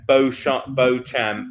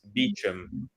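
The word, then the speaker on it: Beauchamp: Chumley yeah and and Bo Bo champ is beum you know it's this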